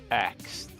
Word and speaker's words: asked: getting pissed off, people using this way to pronounce this word. Okay. And the word is axed. Axed? Instead of saying asked, you say axed.